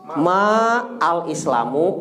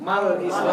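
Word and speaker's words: ما الإسلامُ: Kalau diwasol gimana? Mal Islam. Nah, jadi mal Islamu. Jadi nanti antum jangan kaget kalau ada yang nanya gitu. Ya Syekh, mal Islamu salah. Ya nggak usah disalahin. Dia benar bacanya diwasol ya, disambung. Kalau nggak diwasol, nggak disambung, ma al Islamu.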